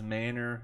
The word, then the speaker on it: Manor: out some Manor Lords I said it right this time Manor the past two episodes I've been saying Manor it is Manor Lords you can still check